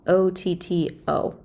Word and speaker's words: Otto: with the auto cycle it's not spelled a-u-t-o it's spelled o-t-t-o but it does relate very much to the a-u-t-o auto cycle all right so here's